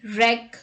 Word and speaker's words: wreck: w rule number one w is not pronounced at the beginning of a word when it is before the letter r let's look at the examples rap right wrong ring wreck wrestle and rest let's